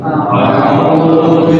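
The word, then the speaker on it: أَعُوذُ: A'udzu billahi minasy syaithanir rajim. Ayo. A'udzu billahi minasy syaithanir rajim. Alif dulu baru alif dulu baru ain.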